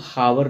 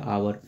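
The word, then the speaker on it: hour: इसको हम हावर नहीं पढ़ते। इसको पढ़ते हैं आवर।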